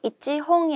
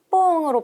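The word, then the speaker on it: 一本: 비즈와 뽕 아리마스 자 여기서도 뒤에 홍이 붙음으로써 이찌 홍이 아닌 뽕으로 발음이 된다라는 거 주의 주의 그다음에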